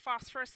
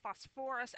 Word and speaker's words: phosphorous: acid it's not pronounced phosphorus like the element it the emphasis is on a different syllable it's actually pronounced phosphorous acid now I will